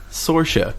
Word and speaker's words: Saoirse: It's like a coming-of-age story starring Saoirse Ronan, who has such a great name, but it's spelled like Soirse. Saoirse? Saoirse. It's like Sasha, nice.